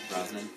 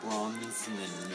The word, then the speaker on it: Brosnan: Brosnan, yeah. Or yeah, that's how you say it, right? Yeah, Brosnan. I always hear Tim Heidecker say it like Bronsonen. Like he says it the worst way.